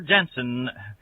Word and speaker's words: Genson: Lockport, Illinois, and at Genson or Jensen. I hate to mispronounce anyone's last name, but it's spelled G-E-N-S-O-N, Jensen Hardware at Kankakee, Illinois.